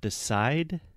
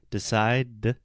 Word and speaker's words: decide: example in the word decide the last letter is an e right uh-huh but if you say the sound decide the last sound is a d we don't pronounce the